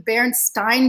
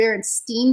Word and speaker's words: Berenstain: I call them the barren Stein bears and sometimes I called the Berenstein bears and I never meaning